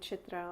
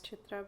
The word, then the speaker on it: Chitra: name correctly it's like the rolling of the R or the t th sound is very hard that the sound is